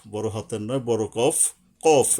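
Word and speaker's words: قاف: হাতের নয় বড় কফ কফ এটা কিন্তু কাফ বলবো না আমরা এটার উচ্চারণটা কিন্তু শক্তভাবে হবে যেমন এক আরেকটা হলো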